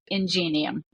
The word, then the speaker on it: Ingenium: with with the name people often pronounce it not the way we pronounce it I don't know what's right or what's wrong but we pronounce it ingenium okay yeah I I